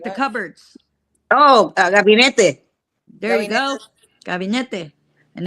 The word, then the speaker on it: gabinete: cubineta, or how do you say cabineta? Mm. Camioneta? No, like the What? cupboards. Oh, gabinete.